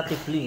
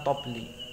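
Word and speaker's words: طبل: Biasanya orang bacanya tibli ya, tapi ning gone kamus niku di mana-mana kamus menyebutnya tobli.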